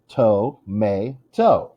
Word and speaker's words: tomato: Tomato has three syllables. To-may-to. What's stressed? If the first syllable is stressed, it would not be tomato. The word would be tomato. Tomato. Nope. Tomato. If the last tomato, tomato, I don't know how it would be. It's the second syllable.